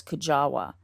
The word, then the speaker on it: Kujawa: the last name was Kujawa now I've also heard it with the w pronounced kind of as a v like kava um but